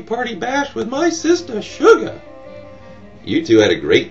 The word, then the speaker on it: Shugah: The name Shugah is the way people in the South pronounce the word sugar, which of course is a sweet crystalline carbohydrate obtained from the juice of various plants.